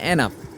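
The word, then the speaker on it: enough: এর উচ্চারণ কখনো হয় ই এন ও ইউ জি এইচ এখানে কিন্তু উচ্চারণ হয়েছে এনাফ কারণ এখানে জি এস থাকার কারণে এর উচ্চারণ হয়েছে এখানে ফ এর উচ্চারণ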